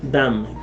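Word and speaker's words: דם: En la palabra hebrea 1818, o sea 1818, está pronunciada dam.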